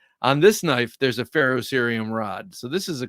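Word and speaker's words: ferrocerium: you pharoh syum uh the E after the r is silent I believe okay okay feros serium right I got you you wouldn't say fio serium feros serium all right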